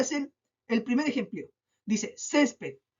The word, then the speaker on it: césped: ¿Cuántas sílabas tiene césped? Césped. 2 sílabas. Césped. ¿Dónde se carga la voz? Última, penúltima. Ah, y yo, según la regla de acentuación, aprendí que las palabras que se carga la voz en la penúltima sílaba son graves.